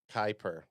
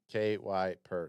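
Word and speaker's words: Kiper: Travis O'Shea says it's Kuiper. Whatever. KY per. Sorry. For I said Kepler.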